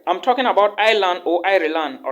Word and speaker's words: Ireland: or ireland if you it's not iceland guys it's ireland so if you hear me say island just know that i'm talking about ireland all right because a lot of people call it island but i always pronounce it ireland i don't know why so if you have